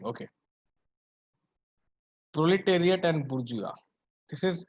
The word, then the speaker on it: bourgeois: Proletariat and bourgeois. This is how it is spelled, but it is pronounced the way I pronounced it. Say, everyone say it. Bourgeois.